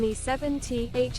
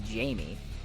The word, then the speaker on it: Jame: Jame7t HOG dance. Hey, hold on. Why does the machine pronounce my name as Jamie? Like, not entirely wrong, I guess. But, like, my name is Jame.